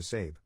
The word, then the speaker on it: Sabe: To cut right to the chase, I legally changed my name to Sabe, pronounced like Abe, but with an S.